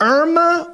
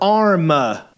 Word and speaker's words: Irma: Is it Irma or Arma? Irma. Spell it. I-R-M-A. Correct. I was quizzing you. It is Irma.